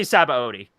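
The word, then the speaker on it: Sabaody: yes Capote II III say Szabo D well you're saying it right thank you I just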